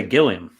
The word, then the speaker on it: Gilliam: Is it Gilliam or Gilliam? I would say Gilliam.